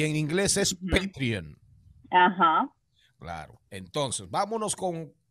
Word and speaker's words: Patreon: Hay dos formas de decirlo, Patreon o en buen dominicano platanao, Patreon, que es como casi todo el mundo la conoce, como Patreon. Patreon, y en inglés es Patreon.